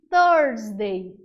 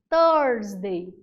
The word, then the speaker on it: Thursday: A quinta-feira a gente chama de Thursday. Thursday. É aquele enrolar da língua para pronunciar a palavra quinta-feira em inglês. Thursday.